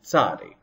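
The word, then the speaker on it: צדי: But in modern Hebrew, most people just say ts, ts, ts, for tzadi.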